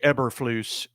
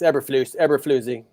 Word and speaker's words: Eberflus: a conspiracy behind this game but unfortunately, Coach Eberflus did not make it through the following morning. I just like to say it like it's Swedish or something like that. Like I'm the guy from Frozen. It's Eberflusy.